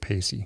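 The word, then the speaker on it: Paice: keyboards and Ian Pace if I'm pronouncing py pacy yeah I heard him pronounce it pacy okay on drums unless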